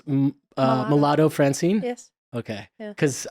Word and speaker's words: Malado: And having grown up in Africa, I think people often wonder if it sounds kind of like mulatto, but it's Malado.